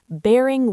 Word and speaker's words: bearing: Bearing with me. The stress is on the first syllable of bearing. Bearing.